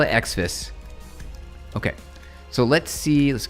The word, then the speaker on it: Xfce: Yo, uh, it's Windows manager and pronounced XFCE, like the letters.